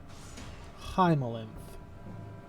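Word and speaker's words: haemolymph: Hymolymph. H-A-E Ooh. or hymoly. Yeah, hymolymph would be, I guess, the proper way to pronounce it, but H-A-E-M-O-L-Y-M-P-H.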